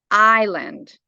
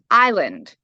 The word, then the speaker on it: island: It says the word island is pronounced as island. Here's a breakdown of the pronunciation. I, like the letter I in the alphabet, and land, rhyming with words like hand or stand.